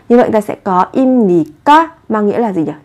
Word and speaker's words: 입니까: Vị trí받침 là 비읍, theo sau là phụ âm n. Thế thì ở vị trí của bờ này, các bạn cần đọc biến âm thành âm m. Như vậy các bạn sẽ phát âm là 임.